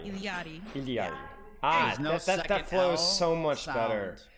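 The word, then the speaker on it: Illari: And the double L in Quechua is pronounced with kind of like an ly sound, so li, if that makes sense. Ili. So that's why it's Iliari. Iliadi. Iliari.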